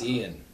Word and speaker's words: Ian: Is that how you believe pronounce it is that? Ian.